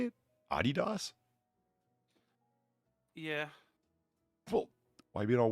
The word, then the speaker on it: Adidas: Adidas?